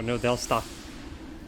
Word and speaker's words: New Delsta: Anyway, let's go to New Delstra. Or New Delsta.